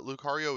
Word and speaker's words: Lucario: my early commentary days when I did not understand that the sea was a hard C and not a soft C uh so Lucario in